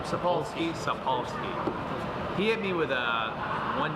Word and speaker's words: Sapolsky: Sapolsky.